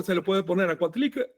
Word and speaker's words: Coatlicue: Cuando posees cue, la falda, ya no se pronuncia Cueitl, porque al poseer le quitas el sufijo nominal, la TL del final y la I en este caso, y se queda en Cue.